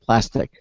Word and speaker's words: Plastc: It's spelled actually PLASTC. No I in it. Plastic.